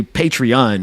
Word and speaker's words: Patreon: So it is actually Patreon is the website.